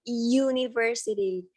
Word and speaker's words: university: Nah, university ini kan depannya awalnya bacanya bukan university, tapi kan university. Kalau kalian baca university itu pasti depannya kayak ngomong huruf Y ya kan. Y depannya kayak huruf konsonan gitu.